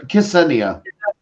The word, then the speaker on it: Ksenia: Andrew, and is it Xenia? I can never say her name. That's good. Ksenia.